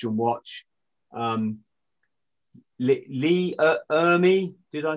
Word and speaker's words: Ermey: watch and watch and watch um lee uh ermey did i say his name right yeah yeah